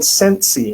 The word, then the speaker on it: Scentsy: there's a company called scentsy as in scent like you smell ascent s-a-e-n-t-s-y and they focus